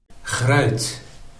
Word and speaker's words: gruit: So here is Adri's pronunciation. Gruit. Gruit. Okay, let me try. Grout. Grout. Gruit. Gruit. Is that close? Adri, you'll have to let me know. Grout. Sounds like kraut almost.